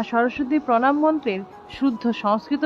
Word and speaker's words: সরস্বতী: সরস্ওয়াতি অর্থাৎ এখানে দন্তস্য দন্তস এর উচ্চারণটা সো এর মত অর্থাৎ জিওভ টা দাঁতে